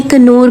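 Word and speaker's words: Knorr: और आई नो कि बहुत से लोग कहेंगे कन्नौर नहीं होता नौर होता है, तो भाई मैंने बहुत जगह प्रोनाउंसिएशन इसके चेक किया, हर जगह कन्नौर आ रहा था।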